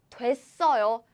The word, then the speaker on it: 됐어요: 가수가 됐어요. 가수가 됐어요. So 되었어요 is shortened as 돼.